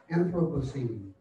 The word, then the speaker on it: Anthropocene: It begins with anthro, two syllables that pack a punch, and ends with pocene.